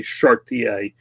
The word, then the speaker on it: Chartier: I say Chartier. I have a very strong pronunciation of my last name.